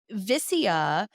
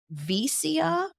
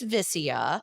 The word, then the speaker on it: Vicia: But Vicia is how you pronounce this restaurant. And I think it's fairly common to actually call it by that correct pronunciation. But I have heard a lot of Vicia and I've heard Vicia a lot. Have you heard different pronunciations? I've heard, and probably like everything in between that. But it is Vicia.